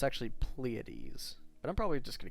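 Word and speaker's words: Pleiades: pronounced I think uh pleades yeah pleades and that's like the kind of Greek pronunciation of it or something like that I know a lot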